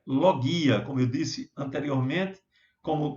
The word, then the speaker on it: logia: a Cuidado aí que muita gente não é pronuncia logia Acessa pra você não existe em grego a pronúncia correta é lo guia Como eu disse anteriormente como quando falávamos de